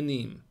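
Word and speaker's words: nîmes: no anymore de nim that's the how it's pronounced castilla de nim and uh it's it says castieris but the the s is silent so it's actually castia de nim and that's it is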